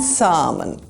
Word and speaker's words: salmon: These are not almond and salmon. Skip the L. Make the R sound, almond and salmon.